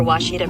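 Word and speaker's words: Ouachita: a Oita is it pronounced Oita searching for wasita Baptist University back in Texas everybody pronounces it witch but really it's wash was was how would you pronounce it wash wash it's was Baptist University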